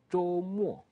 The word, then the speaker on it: 周: You read it, 周. First tone, 周. And remember, we said this. You pronounce this almost like when you say job in English. The J here, almost, not exactly, but it's closer to this.